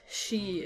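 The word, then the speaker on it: 四: The number 4 is also pronounced as she in Japanese, which is also the same pronunciation as the word for death.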